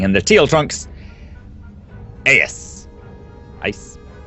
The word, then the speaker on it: AeiS: AeiS. I think it's pronounced ICE.